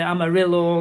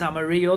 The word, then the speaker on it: Amarillo: Where the push is, you don't say Amarillo as in the song, it's Amarillo.